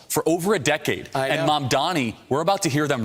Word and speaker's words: Mamdani: There's something about Mamdani. My brain always wants to slow down or call him Mamdami.